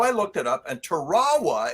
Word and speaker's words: Tarawa: looked it up and Tarawa is actually the correct pronunciation for that linguistic group but Marines have called it Tarawa for 75 years so